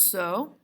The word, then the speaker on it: sol: to the next line so pronounce so is the pitch that is the upper next door neighbor to faw if do is designated as an f like we have designated